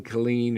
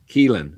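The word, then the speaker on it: Kilen: and I think Gavin Killian, or however you say his name, I think it's Killian. Keelan. Okay, Keelan. I said Killian first.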